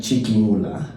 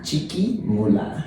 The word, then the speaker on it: Chiquimula: So how do you pronounce that? Ipala. Ipala? Ipala, I-P-A-L-A. Ipala. Ipala, and then Chiquimula. Ipala, Chiquimula. Chiquimula.